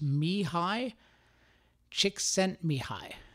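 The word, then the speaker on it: Mihaly Csikszentmihalyi: it but I've just learned from YouTube it's pronounced me hi Csikszentmihalyi me hi csikszentmihalyi that sounds not so bad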